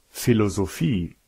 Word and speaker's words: Philosophie: Et puis il y a un PH qui se prononce comme un F, tout comme dans Philosophie, Maintenant, il existe des règles pour la prononciation des voyelles.